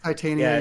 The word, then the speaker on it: Titania: And shout out to I believe it's pronounced Titania. Is that how you say it? Titania.